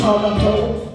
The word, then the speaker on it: Tkaronto: Originally a Mohawk word pronounced Tkaronto.